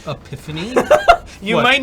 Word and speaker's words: Epiphany: Epiphane Fields? That joke's never gonna get old. Actually, it's pronounced Epiphany.